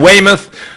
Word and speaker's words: Weymouth: arrested the youth at a guest house in weymouth did i pronounce that properly you did indeed very good